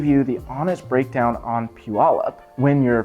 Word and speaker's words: Puyallup: Puyallup, yes, it's pronounced Puyallup, not whatever else somebody thinks it's pronounced as. I've heard it pronounced tons of different ways. It's Puyallup.